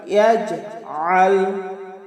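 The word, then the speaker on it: يجعل: সম্মানিত দর্শকবৃন্দ, এবার দ্বিতীয় আয়াতটি আলাম ইয়াজআল ইয়াজআল, এই যে আমরা অনেকে পাঠ করি ইয়াজআল, আইনকে হামজা বানিয়ে ফেলি। এটা আমাদের মারাত্মক ভুল হবে। আমাদের আইনকে আইনের মতোই উচ্চারণ করতে হবে।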